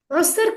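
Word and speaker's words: عسر: उसर के लिए आपको पता है आइन की जो आवाज है अरबी में, उसके लिए आपको गले में से आवाज निकालनी होती है, जो सही तजवीद प्रोनाउंसिएशन है।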